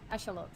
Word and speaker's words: axolotl: that's an asteroid david axolotl it's pronounced echelot oh okay i'm still